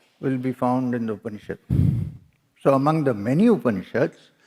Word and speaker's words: Upanishad: Here, it is upa, ni, and shad.